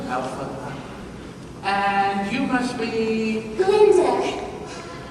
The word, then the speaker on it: Glinda: Glinda. The G is silent.